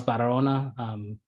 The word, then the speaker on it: Barahona: My name is Barahona. I put my pronunciation in there, like just it's not a very common name, but the main thing for my name is leave out the H basically.